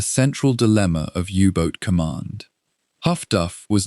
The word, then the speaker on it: HF/DF: The direction finding network known as highfrequency direction finding or HF/DF, pronounced by operators as Huffduff.